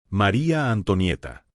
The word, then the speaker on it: María Antonieta: joven que vendría en el futuro a Francia María Antonieta María Antonieta auguste mantuvo los ojos fijos en